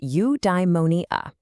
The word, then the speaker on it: eudaimonia: Okay, I've got a new word for you, eudaimonia. It's pronounced eudaimonia.